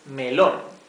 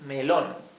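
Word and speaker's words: melón: word for melon is melon so it's the same but we just Chang the accentuation okay to the last syllable it's melon the word for watermelon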